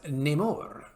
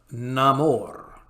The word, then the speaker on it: Namor: new more Latin pronunciation rather than being pronounced nemour like the original Comics that would be Namor it will be pronounced Namor in order to bring the character more fully in line with his new Aztec Mayan Origins I have many names